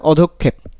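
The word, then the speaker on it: অধঃক্ষেপ: আচ্ছা এটা সঠিক উচ্চারণ হবে অধক্ষেপ, অধক্ষেপ, অধক্ষেপ, ঠিক আছে।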